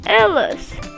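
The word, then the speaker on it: elas: In Portuguese that s at the end, it sounds like repeat lis. Ellis.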